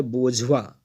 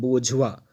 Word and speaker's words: bourgeois: एक बार फिर से प्रोनाउंसिएशन ध्यान से देखेंगे, स्पेलिंग BOURGEOIS है, बट इसका जो प्रोनाउंसिएशन है वो है बोझवा, इसको बोलते हैं बोझवा।